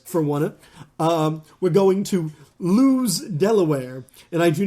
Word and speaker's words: Lewes: We're going to Lewes, Delaware, and I do not mean we're going to be kicking it out. There's a town called Lewes. It is spelled like Lowe's without an O. It's another E.